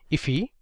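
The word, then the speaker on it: IIFE: So this is known as an immediately invoked function expression or i which is often pronounced as ify.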